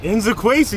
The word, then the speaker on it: Nzekwesi: Inzakwezi.